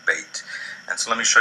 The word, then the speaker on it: beth: Beit has two pronunciations in Hebrew, depending on whether or not it has the dagesh. With the dagesh, it is pronounced like the letter B in boy. Without the dagesh, it sounds like V in voyage.